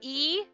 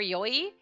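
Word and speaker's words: 良い: So e or yoi, it's the same word, same kanji and everything. It has two different pronunciations sometimes depending on how you're using it or how you choose to use it.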